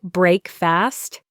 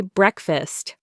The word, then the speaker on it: breakfast: But we don't say break fast. We say breakfast. The first syllable is stressed.